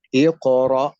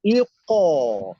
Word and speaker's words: iqra: Kalau didahului baris bawah, iqra, jangan iqo, jangan. Tapi iqra ada, Ibrahim.